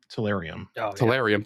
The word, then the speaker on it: Tellurium: I always pronounce this wrong too, but it's the Tellurium. Tellurium.